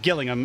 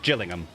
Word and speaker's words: Gillingham: a hundred miles apart they're spelt the exact same way one is just pronounced gillingham and the other one is pronounced gillingham you know it's the